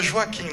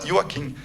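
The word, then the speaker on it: Joakim: E tem aqui a gente fala Joaquim, né? Só que na Suécia, o J, eles pronunciam como I. A gente fala Joaquim.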